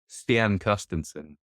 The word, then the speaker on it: Stian Carstensen: Stian Carstensen There you go.